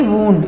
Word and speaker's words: wound: ये वाला जो इसको पढ़ेंगे वूंड. इसका मतलब होता है कोई जख्म, कोई घाव. ये वूंड, इसको वूंड पढ़ेंगे, जो जख्म वाला होता है, घाव वाला होता है.